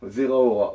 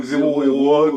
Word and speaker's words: Zeraora: Ouais, Un truc un j'avais peu, du mal à le prononcer déjà, moi c'était 0 Zéro 0 héros, que je disais. 0 héros, voilà. Donc c'est Zeraora.